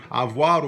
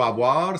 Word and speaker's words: avoir: It's pronounced avoir. And in Louisiana French and in Old Acadian French as well, sometimes that V sound gets dropped and becomes something like avoir.